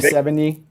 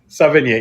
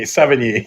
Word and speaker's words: Sevigny: Yeah, Chloe Savigny. Sevigny. Sevigny. Yes, I can never pronounce her name.